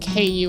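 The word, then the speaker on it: koe: I think it's c o e, but it's it's pronounced like ku in English.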